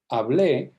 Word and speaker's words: hablé: Hablé is I spoke. It makes a huge difference where you stress this word, and this accent mark tells the reader to stress it on the last syllable, and that is the preterite tense.